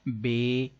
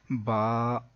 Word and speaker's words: ب: بتا رہے ہیں کہ حروف مفردات کو تجوید و قرات کے مطابق عربی لہجے میں ادا کریں، اردو تلفظ سے پرہیز کریں یعنی کہ بے، تے، سے، ہے، خے، توئے، زوئے وغیرہ ہرگز نہ پڑھیں بلکہ با، تا، سا، حا، خو، تو، ظو پڑھیں.